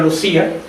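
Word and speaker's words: Lúcia: Bueno, nosotros tenemos ya la costumbre de decir Lucía en español, el mismo Papa pronunció Lucía en la homilía, por tanto voy a seguir diciendo Lucía porque estamos más acostumbrados.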